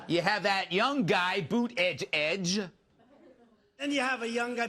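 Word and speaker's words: Buttigieg: too well then you have that young guy boot edge edge and you have a younger Buddha judge who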